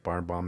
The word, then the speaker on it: Barnbaum: Barnbaum, that's how you say it. Nowhere else. No way else.